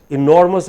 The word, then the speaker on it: enormous: point you have made enormous has three syllables e nor must but because the stress is on nor so he is hardly heard the listener hardly hurt